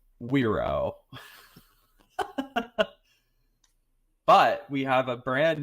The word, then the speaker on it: Wero: We're saying it's pronounced Wero.